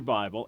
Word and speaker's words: Baal: as a proper name be a ALU nearly pronounce it Bale and you you know of him as a